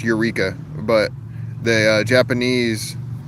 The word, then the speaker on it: Eureka: Uh, it depends how you want to say it, but in in English that word is is pronounced Eureka, but the uh Japanese like pronunciation of it or something is erea or something like that.